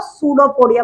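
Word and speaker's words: pseudopodia: इसलिए इसको सूडोपोडिया बोल दिया। पी साइलेंट होगा और स्पेलिंग इसकी पी से स्टार्ट होगी।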